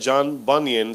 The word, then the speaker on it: John Bunyan: Hay un autor llamado se pronuncia John Bunyan, se escribe John Bunyan o Bunyan, si lo quieren buscar en el Google.